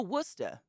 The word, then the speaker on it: Worcester: Oh, Worcester. Worcester. So it's like Gloucester. Gloucester. Like in Boston.